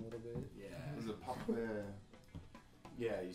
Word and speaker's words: Papagoya: Is it papagoya? Yeah, you spell it Papegoja. Swedish. Papagoya.